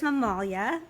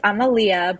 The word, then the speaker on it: Amalia: so your mother your mother is mamalia is that how I pronounce her name it's Amalia but don't worry nobody ever knows ever knows how to say it it's a very Greek old school traditional Greek name and my mom actually